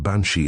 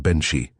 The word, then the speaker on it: banshee: The name of the banshee is variously pronounced banshei and benhi being translated by different scholars.